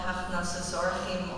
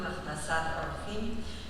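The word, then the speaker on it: הכנסת אורחים: There is a Jewish mitzvah called Hachnasas Orchim, or pronounced in Hebrew, Hachnasat Orchim, and you have really fulfilled it beautifully.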